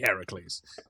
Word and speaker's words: Heracles: And also getting the name wrong. We'll ignore that part because it should be Heracles.